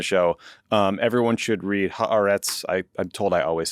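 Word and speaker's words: Haaretz: Um, everyone should read Harets.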